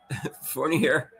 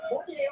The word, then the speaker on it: Fournier: Can someone explain to me why Toby Fournier, I guess the R is not pronounced, right?